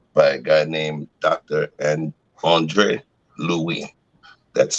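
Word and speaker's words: Louis: named dr and andre louie that's spelled andre and in english it's pronounced lewis l-o-u-i-s all right and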